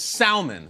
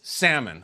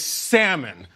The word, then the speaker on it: salmon: to rest it is salmon I know that L sticks out it's awkward I went to merriam-webster this morning it's salmon but he doesn't care